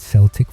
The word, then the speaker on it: Celtic: They named it Celtic Football Club, pronounced with a soft S like the ancient tribes of their Irish ancestors.